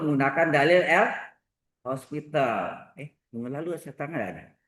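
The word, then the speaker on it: L'Hôpital: Dalil L hospital. Ini orang Prancis, ini nama orang ya. Nggak pakai S. Kalau pakai S, rumah sakit, ya kan? Hospital rumah sakit. Ini nggak pakai S. O, pakai toki itu bacanya hospital.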